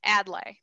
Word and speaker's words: Adlai: a lot of people pronounce it in different ways so adlay add lie we've been told it's adlai and he and even